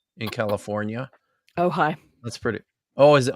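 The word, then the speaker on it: Ojai: church of OJ is that really how it's pronounced OJ in California oh high that's pretty oh is it oh high is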